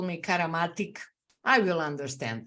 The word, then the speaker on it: Karamatić: of your last name my last name is karamatic karamatic yes there is no K our c is called it's it's a c karamatic it's specific because it's Slavic it's Slavic yes but